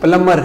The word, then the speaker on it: plumber: عموماً پلمبر کہتے ہیں، PLUMBER، یہ غلط تلفظ ہے، صحیح اس کا جو پروننسیشن ہے انگلش میں وہ پلمر ہے، اس کا بھی بی سائلنٹ ہے، بی سائلنٹ ہے، میوٹ ہے، اس کی آواز نہیں آنی چاہیے، پلمر صحیح لفظ ہے۔ ٹھیک ہے۔ جہاں تک